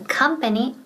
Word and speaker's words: company: The company policy. La política de empresa. Now, ojo, pronunciation, right? Porque yo soy muy tiquismiquis con la pronunciación. Company. Company. Esa O suena como que, como una A.